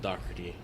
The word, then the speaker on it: Dougherty: And, it's spelled like Dougherty or Dougherty, but it's pronounced Dougherty.